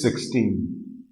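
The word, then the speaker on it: sechzehn: 16 is 16. 16. I am marking star here because this S will be removed when we will be saying 16.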